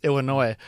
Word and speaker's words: Illinois: in like Illinois Illinois I pronounce the S Illinois uh I found like